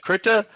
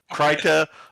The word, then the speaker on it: Krita: how to pronounce it so it's either krita kreiter or krita but it is spelt k-r-i-t-a you can download it